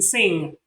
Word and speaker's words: sing: song you see that you can't hear the last sound the the G sound you don't say I sing a song you don't